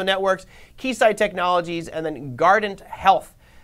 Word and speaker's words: Guardant: keysight technologies and then guardant health should be like Guardian health but it's gardened health apparently GH guess for the